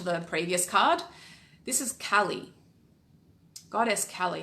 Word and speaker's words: Kali: Kali, yeah. Cal or Carl? Cal.